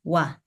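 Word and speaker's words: 와: untuk vokal rangkap sendiri ketika o bertemu dengan A itu dia dibacanya wa ya Jadi kenapa di sini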